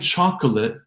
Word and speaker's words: chocolate: So saying chocolate, because of the rhythm of the language, the unstressed nature of that K syllable, and the link with the next L, we get this reduction, chocolate.